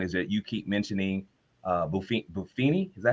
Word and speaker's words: Buffini: So one of the things I want to touch base on is that you keep mentioning Buffini. Is that how you say his name? Brian Buffini.